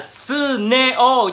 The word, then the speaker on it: Suneo: Suneo đọc là Suneo, chứ không phải là làm sao mà đâu ra được chữ Seiko được.